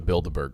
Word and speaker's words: Bilderberg: We're talking about the Bilderberg group. So the Bilderberg group, what? It's in like I'm like Harry. The way it sounds like the Build-A-Bear thing in the mall.